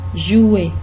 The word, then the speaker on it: jouer: SRI, nous irons jouer, jouer, इसका are pronounce नहीं होता, jouer नहीं बोलना, jouer अगर आप बोलेंगे तो उसका मतलब कुछ और बन जाता है। jouer का मतलब है प्लेयर जो होता है, लेकिन उसके स्पेलिंग अलग होते हैं, तो ये jouer की तरह प्रोनाउंस होता है, jouer, jouer, jouer।